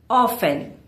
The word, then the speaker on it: often: Here the T is silent. You can say often.